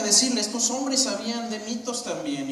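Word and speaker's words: μῦθος: La palabra aquí griega es mitos.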